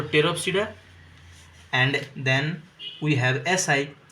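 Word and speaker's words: Pteropsida: this toopa this here this p is silent so teroa and then we have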